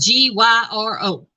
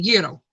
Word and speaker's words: gyro: pronounce it and it said you know and it's spelled g-y-r-o and I call it a gyro but it's a euro oh you're very welcome Elgin very welcome but